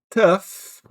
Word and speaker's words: tough: Então, a primeira é tough. Tough. Willam não tem f aí. Pois é, mas esse gh se lê assim. Tough.